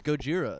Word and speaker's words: Gojira: that's what it is it's Gojira that's how you say it who is that guy